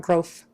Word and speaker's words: growth: right now growth growth it still sounds like an F people will hear it unless you put your tongue somewhere in the middle of those teeth even if it's not